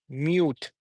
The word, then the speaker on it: mute: mute okay mute mute when we say mute oo sound uh Even it is uh monoselic word but uh the the kind of syllable that we are using here is like the vowel sound that we are using here is the long vowel long ooh sound mute okay so mute